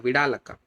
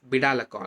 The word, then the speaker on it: Vidalaka: Next, moving to one more Kriyakalpa, the Vidalaka, or some call it as Bidalaka also. Okay, so pronunciation difference or that is there.